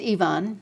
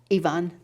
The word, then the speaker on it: Iwan: paternal grandfather's name was spelled i-w-a-n it's pronounced ivan in polish and it's actually uh a transliteration of the eastern european the the the russian or john yvonne the terrible right and